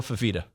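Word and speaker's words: Fifita: Noah Fafita.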